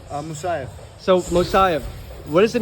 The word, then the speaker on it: Musayev: Musayev.